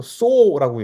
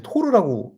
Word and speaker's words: THOR: THOR 뭐 예전에는 한국에서 쏘라고 얘기했었고 그 요즘에 이제 토르라고 읽죠. 토르가 유행하고 토르 영화가 나온 다음부터는 THOR은 토르라고 읽으니깐요.